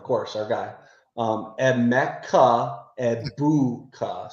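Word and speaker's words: Egbuka: Eboua. So, the G is silent in his last Yeah.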